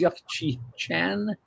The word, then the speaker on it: Yuk Chi Chan: Our guest tonight, I want to pronounce this correctly, is Yuck-Chi Chan.